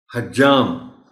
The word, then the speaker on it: حجام: وافر ہے، وافر نہیں۔ حجام جیم پر شد کے ساتھ بولا جانا چاہیے۔ اسی طرح قصاب ہے۔ ہم یہ دونوں الفاظ شد کے بغیر بولنے کے عادی ہیں عام طور پر۔ حجام ہے، قصاب ہے۔ قابلیت،